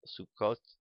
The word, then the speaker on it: Sukkot: of wandering the Hebrew pronunciation of sukad is sukot but it is pronounced as is Yiddish rhyme with bukas the